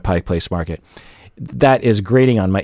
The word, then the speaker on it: Pike Place Market: people pronoun you know when people say pikes market for example instead of pike place market that is grading on